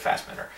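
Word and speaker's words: Fassbender: Fastbender right now or he called him Fastbender but I think he pronounced it fast man I pronounce it Fastbender I think Fastbender yeah he's gonna walk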